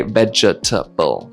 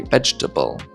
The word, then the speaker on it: vegetable: We don't say vegetable, we say vegetable.